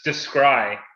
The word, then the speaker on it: Descry: Is it Decry? It's Decry is how you pronounce that with a no, it's Descry.